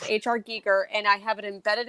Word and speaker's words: Giger: the harkonnen yeah and so his name is pronounced hr geeker and i have it embedded in my brain